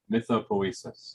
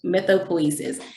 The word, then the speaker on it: mythopoesis: So you do pronounce the E. Hmm? I wasn't pronouncing the E. Okay. Say it one more time, please. Mythopoesis. Mythopoesis.